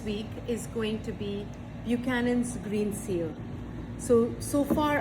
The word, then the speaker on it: Buchanan: So, Buchanan, pronounced Buchanan, not Buchanan, was founded in the late 1800s by James